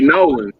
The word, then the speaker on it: New Orleans: New Orleans New Orleans it depends if you get even faster it could be noan right n a WL